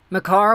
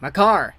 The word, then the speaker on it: Makar: Makar, one-time blast.